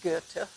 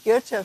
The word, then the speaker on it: Goethe: Then, Johann Wolfgang von Goethe, and those of you who speak German better than I, I think it's pronounced Goethe, g o e t h e.